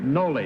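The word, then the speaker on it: Nolle: Okay, everybody Noel? Is that the way to pronounce that, Bud? You know, you're a lawyer. Noli is the first part of it. Noli? N-O-L-L-E, Noli.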